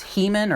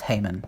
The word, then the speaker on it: Heman: And then the last one is Heman, or Haman, I believe is how it's, I think it's Haman is how it's pronounced.